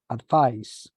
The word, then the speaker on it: advice: attention to this letter because if it is a noun is with the letter c advice and as a verb is advice so the pronunciation changes as well as the letter this one is with the letter S and this one is with the letter z advice advise so what's the adjective